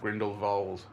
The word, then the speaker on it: Grindelwald: And uh we've come back from singing Fantastic Beasts, the Crimes of Grindlewald. Yes. Grindlevald as if as they're keen on pronouncing it to sound all hoy toy and hoy and posh and blah blah blah blah.